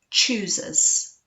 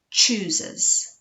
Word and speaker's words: choosers: can't can't b b chooses chooses make sure you're really getting that ch sound at the beginning of